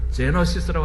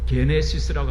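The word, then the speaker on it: γένεσις: 헬라어에서는 스펠은 똑같은데 발음이 약간 달라요. 제너시스라고 하지 않고 게네시스라고 합니다.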